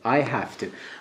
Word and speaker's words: have to: که تلفظش حالت ف میگیره. I have to.